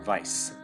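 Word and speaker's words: Weiss: apparently you meet grimoire vice uh spelled with a w like the german like the german word for white you know um anyway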